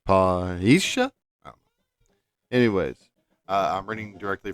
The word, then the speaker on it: parrhêsia: I don't know much Greek, but in English it looks like you pronounce it parrhêsia.